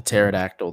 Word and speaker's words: pterodactyl: it's like it's like a pterodactyl the p is silent well i figured just